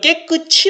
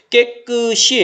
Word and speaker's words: 깨끗이: 그러니까 이라고 쓰는 거예요 이걸 깨끝이 라고 잘못 발음한 친구도 있는데 깨끗이 에요 깨끗이 가 아닙니다 c 아닌 히 다른 헷갈리지만